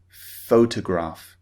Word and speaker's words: photograph: as in photograph but pH in English is pronounced f f photograph okay so this is